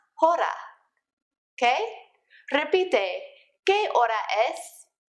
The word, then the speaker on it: hora: Remember that you don't pronounce the H's when they come at the beginning of a word, like hola is hola and not hola, just like hora is not hora.